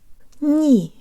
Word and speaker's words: не: Ni.